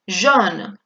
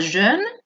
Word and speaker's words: jaune: Atención con la pronunciación, no quiero escuchar a nadie decir jaune, es jaune. ¿Por qué? Porque AU se va a pronunciar como una O, jaune. Si vosotros me pronunciáis jaune, es que en vez de haber una aquí una A, hay una E. Estáis pronunciándome como si el diptongo fuera EU, y eso significa otra cosa. ¿Qué significaba jeune en vez de una A, una E?